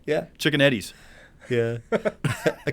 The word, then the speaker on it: Ciocchetti: Can you spell it? Spelling it. Ciocchetti. Yeah. Chicken Eddie's.